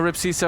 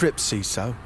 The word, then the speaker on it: Rip Seeso: pull egag in a cube well you know ripo I really I really appreciate it's ripo you know ripo I really uh it's ripo